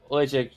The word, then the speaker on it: Oleksiejczuk: It's on Cody Brundage against Michal Oleksiejczuk. That's hard name for me to pronounce.